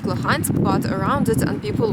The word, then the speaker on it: Luhansk: Luhansk.